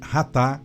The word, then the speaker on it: chatá: O seu equivalente verbal chatá pronuncia-se ratá com h, que literalmente significa errar o alvo.